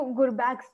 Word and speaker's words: Gurbaks: So ये जो Gurbak's नाम है, am I pronouncing it right?